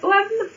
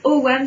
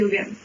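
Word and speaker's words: ogham: Je crois que tout le monde dit OGAM. Tout le monde. Et ben non, c'est OAM.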